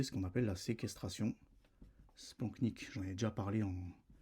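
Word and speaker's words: splanchnique: Spanknic, j'en ai déjà parlé en en podcast. OK, ça s'écrit spanchnic mais ça se dit spanknic.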